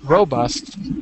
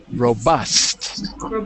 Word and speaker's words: robust: word the first word is not robust but robust second second syllable second syllable okay great and anatoly